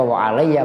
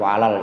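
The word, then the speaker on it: وعليّ: Itu bacanya wa alayya, bukan wa alal ijabah.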